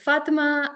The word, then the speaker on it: Fatmah: So, Fatmah Azam Ali, correct me if I'm mispronouncing your name, Fatma.